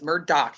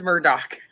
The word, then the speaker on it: Murdaugh: Then I thought it's it was Murdoch. It is. It's Murdoch. You have to make sure you do it right, otherwise you're going to get all the crap that I've already gotten.